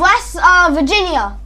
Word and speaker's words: West Virginia: West Virginia.